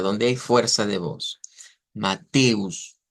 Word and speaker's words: Mateus: Mateus, Mateus, esa es la sílaba tónica.